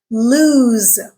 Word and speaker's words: lose: at the first word lose this is an action word it describes an action in this word the letter s makes the z sound okay so when we